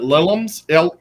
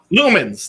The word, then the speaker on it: lumens: Is it lilums? Lilums? How do you say it, James? Lumens? Lumens.